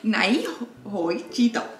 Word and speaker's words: na chuj ci to: Na chuj ci to. But don't say it like Asian. You're saying it na chuj ci to. You gotta say it in Polish.